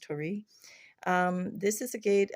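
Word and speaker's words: torii: here with I think it's called Tori t T gate looks like Tor gate but maybe I think it's pronounced Tori um this is a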